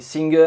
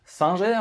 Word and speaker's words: Singer: Oui, Singer en anglais, si vous préférez, mais admettez que la marque est suffisamment implantée en France pour que je la prononce à la française.